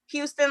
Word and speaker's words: Houston: That's spelled, Houston like the city.